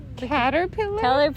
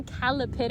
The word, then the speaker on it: caterpillar: Caterpillar? Caterpillar. What the fuck is a Calipitter? I've always said it wrong. I'm gonna tell you this right now. I always say Calipitter Yeah, instead of actually- caterpillar.